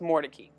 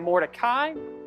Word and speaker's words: Mordecai: he lived in raleigh the pronunciation of the family name shifted from mordecai to mordecai now moses and